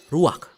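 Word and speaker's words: רוּחַ: Kata dalam bahasa Ibraninya adalah ruach. Ruak? Ya, benar. Tenggorokan kita harus benar-benar bersih di akhir pengucapan.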